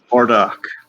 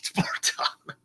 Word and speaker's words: Bartok: I keep thinking of a different name, a name that sounds so similar to Bartok, it's ridiculous. Bardock. As in Bardock, the father of Goku from Dragon Ball Z. Oh, God. Every time I hear that name, I keep for a millisecond, I think, why is he saying it wrong? But no, it's Bartok.